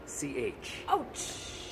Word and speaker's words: Autsch: Ouch! That's ouch. Yeah. I would spell that O-U-C-H. Oh, I would pronounce that Ouch. Ouch. Okay, and I would pronounce yours ouch.